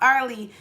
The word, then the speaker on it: Arley: And I was like, I was like, "I am saying your name right." I was like, "It's pronounced Arley."